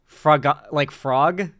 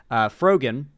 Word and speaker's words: Frogan: I always think Froggen, or whatever, in reference to Pepe the Frog, because Twitch streaming and Pepe the Frog tied together. Frogan, more like Froyo, Froyo yogurt, kind of pronounced like that.